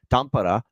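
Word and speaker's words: Tampere: of two games in tampara as it's pronounced over in Finland between Dallas and Florida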